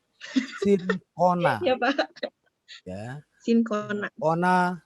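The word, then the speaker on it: Cinchona: Sincona. Ya, bukan cincona. Sincona.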